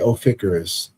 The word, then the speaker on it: Ophiuchus: But Ophiuchus. Yeah, that's how you say it. Ophiuchus.